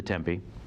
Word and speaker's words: Tempe: yeah tempi yeah uh in the tempe tempe i believe is how they annoyingly pronounce it and also uh it's